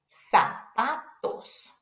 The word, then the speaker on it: zapatos: The Z sounds like an S. Sa, se, si, so, su. Zapatos, zapatos, which means shoes.